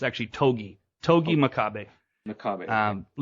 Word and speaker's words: Togi: go any further this is where I have to I have to say I had issues with the commentary about the pronunciation what what is his opponent's last name